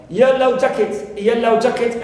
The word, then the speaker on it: yellow jacket: Yellow jacket, as one word, as a compound noun, I stress the first element.